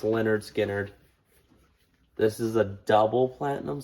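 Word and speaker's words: Lynyrd Skynyrd: all right Leonard Skinner pronounced Leonard Skynyrd this is a double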